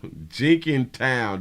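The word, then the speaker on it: Jenkintown: women in jeny town jinking town this is how they say it jinking town here we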